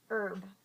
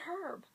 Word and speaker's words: herb: And until I one day shook my head and I'm just like, why do you call it herb? The H is silent.